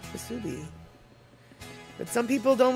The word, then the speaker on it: Musubi: Okay, so sorry, Statter, if you want to sound like a local, then it's pronounced Musubi, with the emphasis on the B. Not the Musubi, but Musubi.